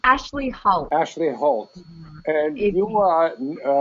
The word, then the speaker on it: Ashleigh Hoult: Help me pronounce her name. Ashleigh Hoult. Ashleigh Hoult.